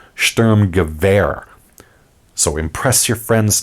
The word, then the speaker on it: Sturmgewehr: Now, most people say STURMGEWEHR, not surprisingly given its spelling. In German, however, the W has a V sound, so it's actually pronounced STURMGEWEHR.